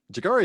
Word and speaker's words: Jeggare: Am I pronouncing that right? Is that Jeggare? Jeggare is how I say it.